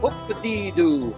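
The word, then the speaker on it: Hoop-Dee-Doo: J'ai de la misère à te prononcer, alors je vais te prononcer devant la pancarte. Donc c'est Hoop-a-dee-doo, Hoop-a-dee-doo.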